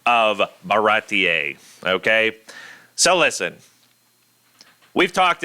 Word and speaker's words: Baratie: person would say barati. They would not say baratier. Okay, that's like a very Spanish type, maybe Italian pronunciation.